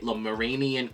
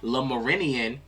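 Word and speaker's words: Lemurian: You also did get Lamaranian quartz. I always say that name wrong. Okay, Lamarinian quartz.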